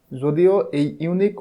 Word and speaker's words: unique: unique consist of vowel it is pronounced and sound as you unique word that's why a is